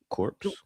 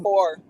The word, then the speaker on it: corps: Core course like you know like the the army. Yeah, the army corps. The corpse. Yes. Yeah. That's what I said. There's no P.